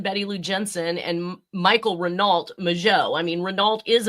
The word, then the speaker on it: Renault: Yeah, we pronounce it in English Renault, but I believe it's Renault.